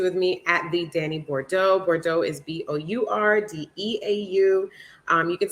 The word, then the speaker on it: Bourdeau: You can stay connected with me at the Danny Bordeaux.